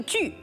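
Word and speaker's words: 俱: 这个具在此我们读成居，强调二者的共性。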